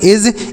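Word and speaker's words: edge: ई डी जी ई एज दोस्तों यहां पर जो डी लिखा है ना यह साइलेंट है मतलब इसका उच्चारण आपको नहीं करना है।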